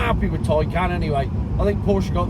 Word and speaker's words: Taycan: I'm not happy about it being called the Taycan, which apparently is the correct pronunciation. T-A-Y is Tay, G-A-Y is gay, D-A-Y is day. It's not Monday, Tuesday, Wednesday, and it's not gay or guy.